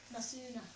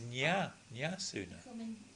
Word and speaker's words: Nasuna: Is that how you pronounce it? Nasuna. I thought it was Nyasuna. Well, it's Na. All right, okay.